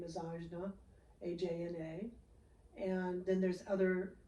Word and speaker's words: Ajna: Your third eye, which I love the name, is Ajna, A-J-N-A.